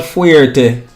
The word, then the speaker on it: fuerte: Let's hear what fuerte stands for.